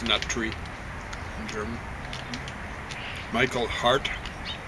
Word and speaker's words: Hart: Michael Hart. So that's hard with a T on the end. Tells you how to pronounce it, I guess.